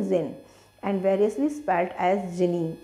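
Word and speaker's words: djinn: यहाँ पर उसको जिन की स्पेलिंग DZINN दी हुई है, लेकिन इसको हमें क्या प्रोनाउंस करना है, जिन, and variously spelled as जिनी।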